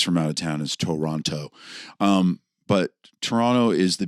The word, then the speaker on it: Toronto: I was born in Toronto and Toronto is technically Toronto. That's what Toronto Canadians pronounce it. The second T is silent.